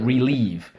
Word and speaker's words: relieve: this is the word relieve v no v silent e re leave relieve same switcheroo let's go